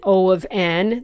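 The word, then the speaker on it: O(n): Now, as I said, you heard me say O of 1 and O of n. That's how you say it. O of, and then the value that's in brackets.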